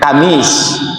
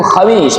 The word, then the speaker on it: khamis: Alnain al loro Senin asoso assulasa seloso kelarbia rau al papat ng to alkhamis pinten kamis yang beneru khamis bukan kamis khamis algsal lim aljumuah dinamakan jumuah soalnya tempat berkum kumpul jemaah soalnya salatnya agak lama maksudnya ada khotbahnya.